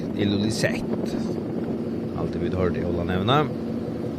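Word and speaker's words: Ilulissat: Och i Jakobshavn, som vi har sagt Illulisat, han uttalas visst nog Illulisat.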